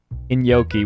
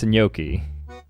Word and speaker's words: gnocchi: Whenever I say this, you guys say I say it wrong, but it's gnocchi. So far, Wiktionary does not mention anything about pronouncing it like a gnocchi. The closest to his pronunciation is General American gnocchi. The term is derived from Italian, which is pronounced gnocchi.